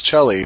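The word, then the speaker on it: celli: the plural of cello you can say Chell which is the Italian way or cellos is the accepted American pronunciation of that I'm going to stick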